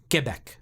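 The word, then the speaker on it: Québec: so mad at me when i would say quebec she's like it's quebec i was like okay i'm sorry quebec now i'm used to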